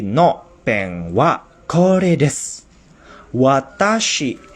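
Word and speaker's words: 私: Watashi ini dibacanya watashi ini adalah kanji ya. Kalau ditulis secara hiragana ditulisnya watashi, huruf wa dulu, lalu ta dan shi.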